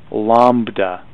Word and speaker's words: lambda: letter here that's a Greek letter and it's pronounced Lambda so frequency is new and Lambda is wavelength